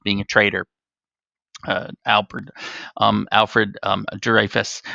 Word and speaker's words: Dreyfus: a traitor Alfred Alfred Dreyfus or Dreyfus is as the French might pronounce the name so that it looks